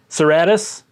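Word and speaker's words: Cerastus: Heading with my warlord is going to be the Knight Lancer, the Seratas, or how do you pronounce it? Seratus.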